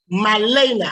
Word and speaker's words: Malena: And so then the kids at that time, some Malana, don't let me say her name wrong because she will check me. Malena. I always get the A and the E mixed up.